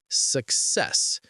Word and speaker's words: success: It's success. Stress on the second part.